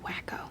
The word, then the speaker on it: Waco: What if it's another Waco? It's pronounced wacko.